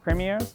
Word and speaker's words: premiers: Premiers? Am I saying it right? Premiers. It's like pre.